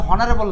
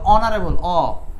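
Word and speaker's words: honorable: দিয়ে দিয়ে অনারেবল এচারণ এটা কিন্তু হনারেবল না এটা অনারেবল তাহলে মৌলিক স্বরধ্বনি অয়ে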